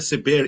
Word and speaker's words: Saber: It's Cyber Saber, even though it's spelled Saber, because the word Saber means to know in Portuguese.